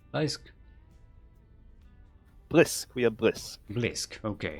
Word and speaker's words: Blisk: How would we pronounce Blisk? Blisk? Blisk, we are Blisk. Blisk, okay. As in Ultralisk, Hydralisk, Hydralisk, Blisk. Blisk.